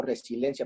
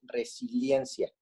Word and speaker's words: resiliencia: éste de adicción porque yo pronuncio resilencia pero es resiliencia entonces la palabra y